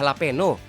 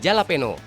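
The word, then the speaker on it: jalapeño: 2.500 hingga 8011 scoville ingat ya guys bacanya laveno bukan jalapeno para jenisnya sama aja Hai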